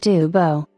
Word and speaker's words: Dubos: race cars the breathtaking Lou daos pronounced Duo coachwork for the type